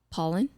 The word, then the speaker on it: Paulin: my last name is paulin yeah it is um how'd you say it pollen yeah that's how you